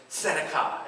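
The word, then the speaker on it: צדקה: The T is silent, but let's say it anyways. Tzedakah.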